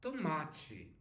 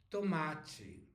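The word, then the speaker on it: tomate: like G all right now T followed by e or I we sound like CH in English Okay for example uncle is ch ch and here we have tomachi tomachi I guess you don't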